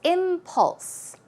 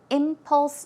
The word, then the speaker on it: impulse: past, she was an impulse buyer. She would buy things without much thought, very quickly, suddenly. And the pronunciation is impulse. As you see, the stress goes on the first syllable, so it's impulse.